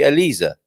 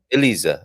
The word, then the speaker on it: Elisa: um alyssa and now if i if it to say that name correctly with the portuguese pronunciation which would she be elisa elisa so there we go